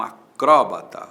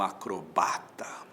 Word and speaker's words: acrobata: né Fulano é um acróbata ou é um acrobata tanto faz acróbata ou acrobata acróbata proparoxítona com acento acrobata sem acento paroxítona o jacaré é